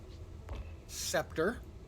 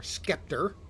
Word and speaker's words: scepter: That's the shield scepter or Skeptor as I like to mispronounce it.